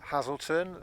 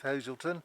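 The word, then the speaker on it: Hazleton: out to me is my pronunciation of Hazelton it is hlon which is very close to how the Saxons spoke um hazle um which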